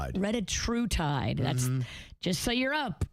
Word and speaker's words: retatrutide: If you're in the weight loss game and you want to get the biggest and the best, how do you pronounce it again? Retatrutide? Retatrutide.